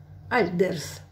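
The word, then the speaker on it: الدرس: Альдерс. Лим. Лим. Не читается здесь. Мы будем изучать, почему. Потому что дальше дель буквочка идет. Просто запомните, это солнечная буквочка. Перед солнечными не читается «эль».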